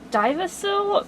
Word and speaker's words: Dyvicl: comparison of these new divasil metallic gel pens that you can buy on amazon and at least i think that's how you pronounce the company name d-y-v-i-c-l i've seen a couple